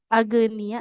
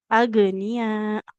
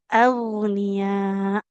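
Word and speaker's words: أغنياء: Maka perlu diperhatikan ya untuk huruf-huruf kayak gin ini kan kadang bacanya jadi suka kayak qalqalah ya. Tidak agia ya, tidak agia. Agnia. Huruf gin kan dia harus mengelarkan suara. Kemudian hurufnya tebal. Agniya. Agniya. Jadi kita alirkan dengan sempurna.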